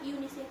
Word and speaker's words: UNICEF: uni chef member that is wrong we say unicef member okay so this is how we differentiate